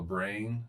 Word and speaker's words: brane: is what is on what you call a brane. BRANE is how it is spelled.